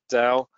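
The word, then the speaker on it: Tao: out just type in Dow and by the way we're calling it down with a D because of the provenance of the Chinese pronunciation but you can call it tau if you want we've heard people call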